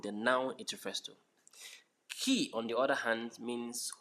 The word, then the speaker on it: qui: And second one is not qui, it's qui. Qui. Like just like your car keys.